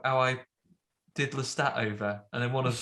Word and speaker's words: Lestat: And he's like, "No, I said I really need Lestat." That's how you say it. Like, you speak French.